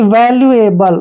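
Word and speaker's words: valuable: V का उच्चारण वे करेंगे, A को ए की मात्रा पढ़ते हैं, और L का उच्चारण आधा ले करेंगे, UE का उच्चारण U करते हैं, वैल्यू। और देखिए ए का उच्चारण हमने ए करना है, बी को बै लिखते हैं, और LE का उच्चारण ले करेंगे, एबल, यानी कि वैल्यूएबल।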